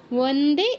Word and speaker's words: বন্দে: রত্ন মুকুটাও, রশ্মি রত্ন মুকুটাও, অনুসারের জায়গায় ও হসন্ত, মুকুটাও বন্দে, এই ব আবার কিন্তু বর্গীয় ব নয়, এটা কিন্তু অন্তস্থ ব, তো এটা উচ্চারণের সময় ও উচ্চারণ করব, ব নয়।